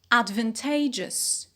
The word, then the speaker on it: advantageous: advantage to advantageous advantageous so here we have a stress shift and a change in vowel quality from ud to ad and from van tovan and from t to t okay so we have three vowel changes here we have finished with